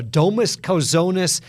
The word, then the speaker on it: Domas Kauzonas: We're joined by basketball players from UNC Greensboro, Domas, Kauzonas, and Justin Neely.